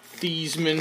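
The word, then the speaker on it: Theismann: one too the joe thiesman thiesman look alike there many don't know his name used to be thiesman until he changed it in college to rhyme with heisman and then he didn't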